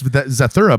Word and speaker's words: Zathura: It's Zathura, by the way.